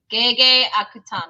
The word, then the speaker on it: Gege Akutami: Gege Akutami.